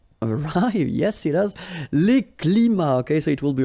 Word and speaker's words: climats: So you can see that even if we've got the plural form here, S, we don't pronounce the S, and then we don't pronounce the T either.